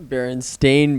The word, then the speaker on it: Berenstain: Berenstein. You said The Berenstein. Berenstein Bears. Yes. It's Berenstein Bears. Berenstain Bears. So you mispronounced the name AI.